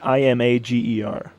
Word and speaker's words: Imgur: does he pronounce it it's pronounced like i-m-a-g-e-r how how would you pronounce that image imager uh past